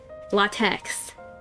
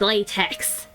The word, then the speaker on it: LaTeX: Also, screw everyone that pronounces it latex. It's latex. latex like the material.